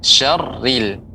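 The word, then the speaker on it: شَرِّ: cone Naaz a riddle sini pengucapannya tipis ya syarril riazor real Aa karena setiap perokok yang kasrah dia tipis ya buat kamu Mesya Green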